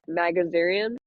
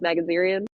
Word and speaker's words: Magarian: So, in 1994 is when Metheny murdered Kathy Ann Magazinerian. Might have butchered her last name, but it's Magarian.